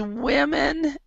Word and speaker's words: women: Also, there's women and there's woman. So the percentage of women who suffer from migraines instead of woman. So woman, women. It's a very, very small change in the pronunciation.